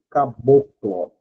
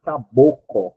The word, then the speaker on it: caboclo: O índio mais o branco, o caboclo. Beleza? Inclusive esse dígrafo aqui, o cearense tem uma dificuldade absoluta de pronunciar caboclo, né? nós reduzimos esse L vira caboco e acabou a história.